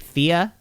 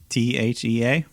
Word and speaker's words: Thea: how to say it is it just like thea fia trinidad is that actually her name t-h-e-a yeah i think it's thea but like trinidad right